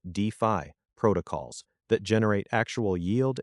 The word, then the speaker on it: DeFi: Focus on DeFi, pronounced DeFi, protocols that generate actual yield and utility.